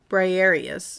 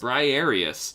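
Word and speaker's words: Briareus: How do you pronounce this one again? Briarius. Briarius.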